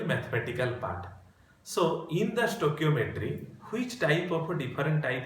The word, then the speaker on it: stoichiometry: So in this class we will read what do you mean by stoichiometry and its calculations. Okay, stoichiometry and its calculations. Pronunciation is K.